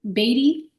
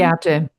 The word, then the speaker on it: Viate: We enjoy like burning control, but as our our sister um is it Batty? Do I pronounce it your name? Viate.